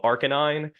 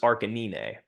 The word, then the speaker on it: Arcanine: keeping the audience interested there's a Pokemon called Arcanine that he pronounces Aran so why is pronunciation important because your audience